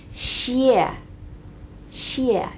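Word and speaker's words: 谢谢: It's she, and then after the she sound, there's an 谢, 谢, 谢, 谢. And you may catch the tones there. Do you hear them? It's 谢, like a bomb dropping.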